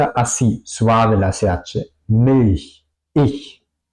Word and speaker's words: ich: Y la regla sería normalmente se pronuncia así. Ich, ich.